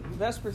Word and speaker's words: VSEPR: is a mouthful and so even though it's not really pronounced you know you can't pronounce that but let me just say Vesper it's close enough that's per theory so